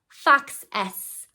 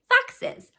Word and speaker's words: foxes: F, x, s, fox s, fox s. That's not how we pronounce that word. We say foxes.